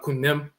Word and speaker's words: Khnum: But Ni Ankh Khnum and Khnum Hetep, 5th dynasty in Kamit. Who are they named after? The flat-horned ram divinity named Khnum, which we pronounce in Akan Kunim, the potter deity.